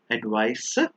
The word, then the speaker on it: advice: has the S sound advice but the one with the S actually has the z sound like advice the one with the